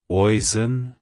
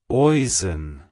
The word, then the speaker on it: Oisin: Oisin. Oisin. To pronounce it correctly, emphasize the osh sound and use a soft een at the end.